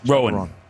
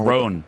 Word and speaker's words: Roan: Rowan. Yeah. Chapel Rowan. Okay, Rowan. that's something. I don't know. different, Did I mispronounce it? I have no clue. Roan. I don't really know. It's Roan. Oh, Roan.